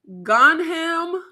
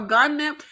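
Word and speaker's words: Gonjiam: gunam haunted Asylum or gunm dude the Asians pronounce their J's like a h like um like in Spanish or is it pronounced like a j is it gunam gunam it's j silent haunted Asylum from 2018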